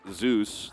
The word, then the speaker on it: Zeus: a monkey looking zay like zeus the god right like this which is what zayus is named after he just pronounced differently in korea and we also had